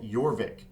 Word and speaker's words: Jorvik: favorite game mechanism in yorvik hopefully I'm pronouncing that correctly it has a j but I think it's a yorvik sound um yorvik is by